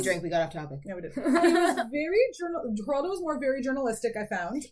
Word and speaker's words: Geraldo: 98 on I called Geraldo for the longest time yes yes like I would not believe my mom when she told me the G is pronounced like an H I was just like